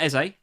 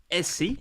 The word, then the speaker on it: Eze: And then Palace make it a difficult last few minutes with Essie. I think is how you pronounce this guy's name. Not Eze. Eze.